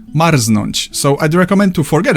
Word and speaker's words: marznąć: There are some very rare cases of R and Z not forming Rz, but you'll probably never encounter them and I can only think of one example, Marznąć.